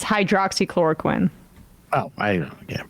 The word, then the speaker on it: hydroxychloroquine: Like what did happen to hydrochloroquine? Was that too hard for people to pronounce, and so they decided that's not the miracle drug anymore?